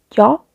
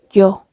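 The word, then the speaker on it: ㅛ: Aquí es yo. Y aquí vamos a hacer lo mismo, como una O en español. Igualmente se pronuncia así, pero redondeando los labios. Yo.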